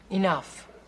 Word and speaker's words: enough: form is Big E enough what see the GH at the end end of that word that's pronounced like an F if they want it